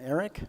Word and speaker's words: aerc: to pronounce it the aerc Eric I don't Eric is that's how it's pronounced the setup for it so easy like